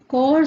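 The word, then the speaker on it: Pschorr: पहली सिंथेसिस होती है कोर सिंथेसिस स्कोर भी बोलते हैं पी साइलेंट होगा ठीक है तो कोर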